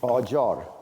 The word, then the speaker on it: Qajar: It's Qajar, is that how you pronounce it? Qajar, right.